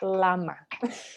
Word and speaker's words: llama: and and feed them llamas this is a funny word in english because it's spelled the same eh it starts with l but we pronounce it lama i really yeah so